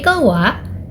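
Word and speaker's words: は: The wa particle is a topic marker. Even though it is written using the hiragana "ha" but it is pronounced "wa".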